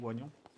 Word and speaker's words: oignon: Tout dépend comment vous le disiez. J'ai toujours entendu oignon, mais c'est vrai que ça s'écrit oignon.